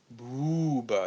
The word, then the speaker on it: bouba: also the way it's pronounced. Booba. It's very smooth.